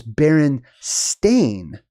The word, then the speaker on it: Berenstain: part of it is Baron stain like a stain on the carpet I would never have